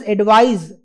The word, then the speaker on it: advise: एक वर्ड है जहां पे हम सी का इस्तेमाल करते हैं, इसको हम कहते हैं एडवाइस. एस S means in terms of pronunciation, and the other one is advise, Z in terms of pronunciation.